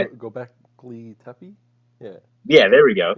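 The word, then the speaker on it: Göbekli Tepe: because we built them with sticks, because like Gobekli Tepe, is that how you say it? Gobekli Tepe?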